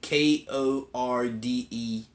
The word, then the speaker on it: Kordey: Igor Corday, I believe is how you say the last name. Kordey. That's how you say his last name.